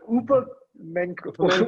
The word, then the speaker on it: Upamecano: Upamecano. Whatever, dude. I've watched his highlights. I think there's a Y in between, isn't there? No, that's no, his first name is Upamecano.